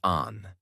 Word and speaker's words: Anne: People called her Anne, pronounced Anne.